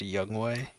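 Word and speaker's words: Younghoe Koo: what saved us was Yung Ho CP going one for four yes what wait what his name is pronounced a young way I'mma say it how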